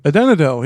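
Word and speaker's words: Adanedhel: And they all started to call him, I'm gonna try to pronounce this as best as I can, Adenadel. Adenadel, yeah, you got it.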